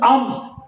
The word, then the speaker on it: alms: Batter মানে কি, ছেঁড়া, ওর নাও ছেড়ে যাওয়া, কি হ্যাড মানে টুপি, ফর আর্মস, ALMS, ALMS, আর্মস মানে কি, উচ্চারণটা কিন্তু আর্মস, এল এর উচ্চারণটা সাইলেন্ট থাকে, আর্মস মানে ভিক্ষা।